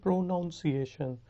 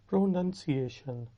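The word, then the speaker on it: pronunciation: بہت سے لوگ غلطی کرتے ہیں, اس کو کہتے ہیں پروناؤنسیشن, کیونکہ وہ اس کو پروناؤنس کے ساتھ مکس اپ کرتے ہیں. اس کا صحیح تلفظ ہے پروننسیشن. پروننسیشن.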